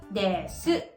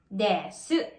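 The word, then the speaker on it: です: Kung mapapansin nyo, may vowel devoicing ulit. And that is yung word na desu. Kung babasahin natin, para siyang desu. Desu. Pero actually, pinopronounce siya as desu.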